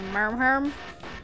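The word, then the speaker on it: Mmrnmhrm: usage and I got the Merm Herm that's how you pronounce it and like and there's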